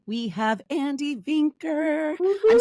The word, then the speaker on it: Vinkeer: said we have Andy vinker I'm saying it right Andy right yeah it's Andy vinker that rhymes with stinker so always remember good